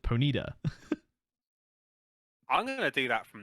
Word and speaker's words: Ponyta: predator okay cool because because the announcer uh pronounced it ponida i'm gonna do that